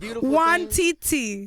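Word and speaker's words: Nwantiti: really said you know literally everyone in america pronounces it wrong so for the record is one titty i hear people know what titi no now what bro it's love one tintee one titty okay so what does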